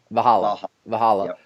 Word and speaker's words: Valhalla: Is that how I pronounce it, or am I pronouncing it? Valhalla.